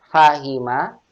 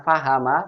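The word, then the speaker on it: فهم: Fahima, Memahami, memahami. Ini juga kasroh. Fahima bukan fahama, fahima.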